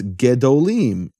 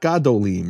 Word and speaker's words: gedolim: When you add a suffix to that, it's gedolim, not gadolim, right? It's just like yah becomes yeh. Same exact thing happening. Same vowel, actually. Same vowel shift.